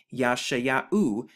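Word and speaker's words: ישעיהו: hey and the so when we put it together we simply get ya shaya u yashaya u and the same thing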